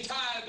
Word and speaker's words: tithe: 요게 the 발음이에요. the. tithe.